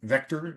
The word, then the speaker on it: VKTR: We do have one published today from VKTR, Vector is how it's pronounced.